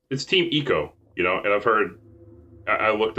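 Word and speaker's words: Team Ico: They actually pronounced it? Well, it's Team Eco, and I've heard, I looked up footage also to make sure that that's what they said.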